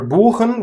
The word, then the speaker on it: buchen: Or remember buchen with a long U due to one single consonant sound ch after it?